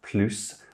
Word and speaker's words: plus: It's also pronounced plus when it's an adverb attached to a verb, and importantly, there's no other adverb after it.